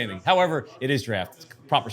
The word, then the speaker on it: Draught: wanted to address is that it's draft it's not drought drought is spelled with a god damn i can't